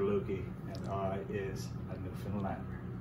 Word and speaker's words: Newfoundland: is a beer and is pronounced newfoundland not newfoundland or new finland newfoundland is the oldest